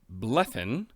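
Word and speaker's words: Bleddyn: to look at prince blethen of gwyneth that's right i read and see how to pronounce the double d and apparently it's a th so if that's wrong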